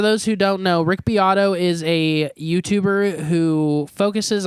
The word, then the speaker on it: Beato: biato oh yeah yeah is that how you pronounce it I always called him Rick beo I thought it was Rick beo for a long time it is Rick biato um all right let